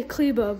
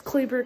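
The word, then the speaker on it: Kleber: my goodness maxi cleaver the announcer say clebo but it's cleaver clevo whatever it's probably pronounced cleva but a lot of people say cleaver dude 2.4 remaining maxi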